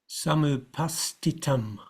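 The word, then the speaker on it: समुपस्थितम्: So even though there's an S in front of it, it's got to be given its full aspirated value, sta. And so this upastitam, it's still got to be pronounced as an aspirated t.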